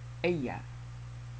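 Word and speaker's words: ella: twice he L she Aya the Double L is pronounced like a y she calls Aya y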